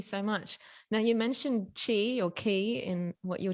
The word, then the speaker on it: qi: be in chinese so it's pronounced like c-h-i or c-h-e-e depending how you wanna um pronounce it um but yeah so chi or key is um essentially energy